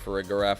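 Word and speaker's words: Farigiraf: love for a giraffe I pronounced for a giraffe uh for uh not I pronounce it for Ridge rep and that for rig garaf I have seen a giraffe in my life I've never seen a graph so if anyone can please um point me to a graph I will start pronouncing it for a graph like most people do but to me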